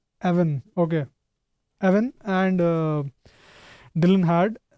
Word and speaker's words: Evan: Let's just quickly talk about the basic ideas that both Ivan, I'm pronouncing it right? Evan, okay.